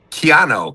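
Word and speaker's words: Keanu: That was a Keano.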